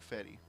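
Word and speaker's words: Fedde: Eric Fetty is the pitcher. That's the pronunciation.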